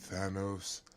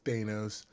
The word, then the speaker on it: Thanos: name is Thanos, and I don't pronounce it as Thanos. I pronounce it as Thanos. It's just what it is, Thane to Dane, and that's where I'm at with it.